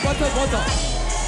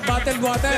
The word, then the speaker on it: bottled water: Bottle water, hindi bottle water. Water. 5 points! Balisin Pwede ba yung sila. mali? Mali! Mali yung diction, bottle. Ay, dapat bottled water. Bali 6 na, pati ka dito. Bottled water. Yung pronunciation.